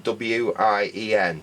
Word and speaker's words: Wien: It's Wein as in W-I-E-N, but I think it's actually pronounced Wien.